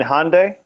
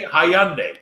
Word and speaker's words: Hyundai: like the Henda the you mean Hyundai Hyundai yeah Hyundai sorry but I AR they hyand hyand I Santa Fe in Canada hyand it's Hyundai red I think you say it wrong I it's Hye never heard it are youand are you